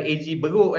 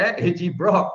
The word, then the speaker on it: AG Broc: Bukan AG Beruk, AG Brock. Ya, kena pronounce betul-betul tu. Brock tu pendeknya untuk brokoli, ya, sayur brokoli.